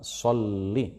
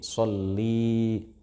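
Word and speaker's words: صلّ: ' ala sayyidina Muhammad," kita tidak boleh memanjangkan vokal pada huruf lam dalam kata "sholli" sehingga menjadi " shollii." Hal itu tidak diperbolehkan, baik dalam bernyanyi maupun di luar bernyanyi. Jangan sampai kita memperpanjang pengucapan " sholli" menjadi "shollii." Mengapa? Karena jika kita memanjangkan kata "sholli " menjadi "shollii," maka itu menjadi kata ganti untuk perempuan (khitab lil muannas).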